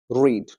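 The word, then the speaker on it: read: रेड ही होता है spelling तीनों का सेम होता है बट प्र में डिफरेंस होता है first form रीड third form रेड और सेकंड फॉर्म भी रेड ही होता है इसके भी मैं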